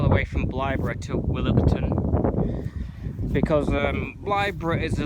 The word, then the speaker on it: Willoughton: will will Willington whatever I'll pronounce this Willington but it's willton willton um blly bridge